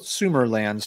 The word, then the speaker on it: Sumerlands: oh yeah consumer lens we're gonna go with sumerlands tonight although everybody keeps sings that's why it's